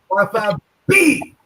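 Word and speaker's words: Martha B!: I said, it's Martha, capital B, exclamation point, but you have to pronounce the exclamation point. So it's Martha B.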